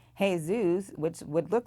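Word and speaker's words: Jesús: right many traditional Hispanic names are actually not pronounced like they're spelled such as Ximena which starts with an X hey zoos which would look like Jesus and Jorge which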